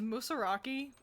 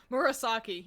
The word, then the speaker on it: Murasaki: You are probably pronouncing it dyslexically. You're so right. Murasaki. Yeah, there we go. Just had to actually look at the order of the letters.